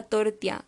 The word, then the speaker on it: tortilla: El sonido intervocálico Y, que corresponde a la doble L en tortilla, ella, botella, suele cambiarse a tortia o tortilla, ea, botea.